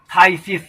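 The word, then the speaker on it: phthisis: Next word है थाइसिस, इसका pronunciation थाइसिस होगा, PHTHSIS। यहाँ पर हम देखते हैं कि PH साइलेंट है, थाइसिस।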